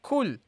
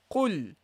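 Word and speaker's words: قل: Now the qaf, you should pay attention that you don't pronounce this as a kaf. Okay, so that you don't say kul. Okay, that you don't say kul. Okay, it's not kul. Kul means say and kul means eat. Okay, so you will change the meaning as you see. So make sure that you pronounce the proper qaf.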